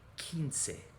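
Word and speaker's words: quince: remember q u in spanish just makes a c sound like a k kinsey now we're going to start seeing a pattern emerge here with 16 17 18 and 19.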